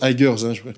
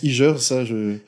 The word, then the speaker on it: Igers: Ça se prononce Aigers. Aigers veut dire Instagrammeur, en fait. Beaucoup de gens prononcent Igers. Il faut supprimer. C'est Aigers, c'est anglais, bien sûr.